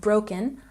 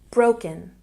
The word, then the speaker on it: broken: And we have broken, a stress on the first syllable. Broken, broken.